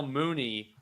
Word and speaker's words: Mooney: It is indeed Darnell Mooney rhymes with George Clooney, who is the star of Michael Clayton.